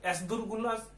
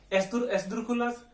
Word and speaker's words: esdrújulas: पहला है आगुदास, दूसरा है यानास, तीसरा है एसदुरगुलास, माफ कीजिए, एसदुरखुलास, और चौथा है सोब्रे एसदुरखुलास।